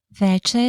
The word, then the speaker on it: veče: Veče es noche. Veče. La letra ch en serbio se pronuncia como el sonido ch en español, similar a la ch en la palabra chico. Entonces, veče.